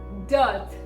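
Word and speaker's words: dearth: word for today is death it is death now americans pronounce this word as dirt they properly even in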